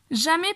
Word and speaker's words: jamais: Jamais personne ne se moque de lui. Otra vez la A y la I se pronuncia E.